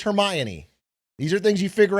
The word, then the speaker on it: Hermione: That's like when I read all the Harry Potter books and I thought it was pronounced Hermione. Okay, it's Hermione.